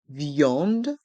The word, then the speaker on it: viande: est mué dans le mot viande VI en de il y a le son I et le son en viande et dans le mot